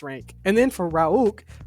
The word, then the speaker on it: Rhulk: And then for Rhaulk, how do you say his name? Rhulk.